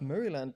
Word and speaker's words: Maryland: got hey greetings from Maryland pronounced meryland by locals any thoughts on heal